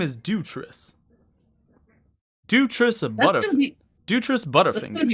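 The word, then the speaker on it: Dewitrius: a wife oh no no my name is dutress dutress dutress butterfing gonna be hard to remember can you spell that d-e-w-i-t-r-i-u-s do tris butterfinger i got the nickname butterfinger from dropping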